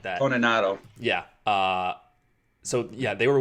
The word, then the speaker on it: Toninato: I can never pronounce his name. Dominic Tonatino? Tonatano? Yeah, something like that. Toninato.